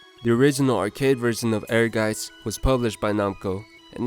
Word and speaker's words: Ehrgeiz: I may sound pretty silly saying it, but I'm pretty sure the right pronunciation of the title is Ehrgeiz, according to my research. It means ambition in German, but if I'm saying it wrong, don't bother correcting me in the comments.